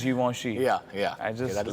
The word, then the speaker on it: Givenchy: There's this brand, I used to always call it Givenchy, but it's actually is Givenchy.